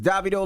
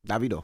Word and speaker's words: Davido: It's Davido, ladies and gentlemen.